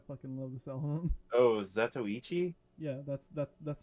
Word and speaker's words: Zatoichi: Oh, Zatoichi?